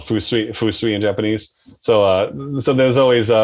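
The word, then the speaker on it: 風水: Fusui. Fusui. Awesome. Yeah. Wind is fu, and then sui is water.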